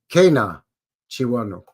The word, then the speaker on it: Kay-Nah-Chi-Wah-Nung: of this thing foreign no it's Cana chiwano okay it's not not easy to say but it's super